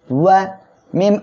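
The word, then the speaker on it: وَمَا: ওয়াও জবর ওয়া, ওয়া দুই ঠোঁট গোল হবে ওয়া। মিম আলিফ জবর মা, মা এক লিপ টেনে পড়তে হবে। কেন? মনে রাখবেন, মদের হরফ হলো তিনটি। জবরের বামে খালি আলিফ, জেরের বামে জজমলা ইয়া, পেশের বামে জজমলা ওয়াও হলে মদের হরফ হবে এক লিপ টেনে পড়তে হবে। তাহলে আমরা এখানে এক লিপ টেনে পড়বো ওয়া মা, ওয়া মা।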